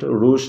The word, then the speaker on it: রাশ: তো এক্ষেত্রেও একটি ব্যতিক্রম শব্দ রয়েছে, সেটি হলো আর ইউ এসএস রাশ, এটার সাউন্ড রুশ না হয়ে রাশ হবে, যদিও শব্দটিতে ইউ এর পরে এসএস রয়েছে।